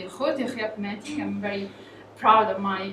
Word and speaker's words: Grote Griepmeting: Influenza Survey, which is in Dutch is pronounced the Grote Griepmeting.